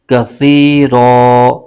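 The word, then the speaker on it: كَثِيرًا: مطلق کی علامت ہے، یہاں پر وقف کریں گے تو اس صورت میں را کی دو زبر ہے، یہ الف میں تبدیل ہو جائے گی۔ اس کے ہجے یوں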